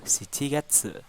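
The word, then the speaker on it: 七月: Wulan 5 gogatsu bulan 6 rokugatsu bulan 7 shichigatsu bulan delapan hachigatsu bulan 9 ke Gatsu bulan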